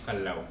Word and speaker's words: Callao: Ay ano ang tamang pag-pronounce po sa po sa name ng cave po ay kalaw.